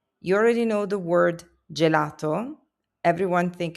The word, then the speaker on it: gelato: G before e or i becomes a soft j sound like in gem. You already know the word gelato.